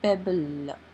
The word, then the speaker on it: pebble: The digraph LE makes the sound L. P, E, B, L, pebble.